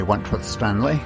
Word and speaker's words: Wentworth-Stanley: This is Wentworth Stanley. I'm the fellow who has a hyphen in my name. The hyphen is silent, but I am anything but that. Good morning. This is Wentworth Stanley.